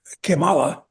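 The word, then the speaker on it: Kamala: that's one reason why cimala well I'm pronouncing it in the Spanish manner incidentally again get back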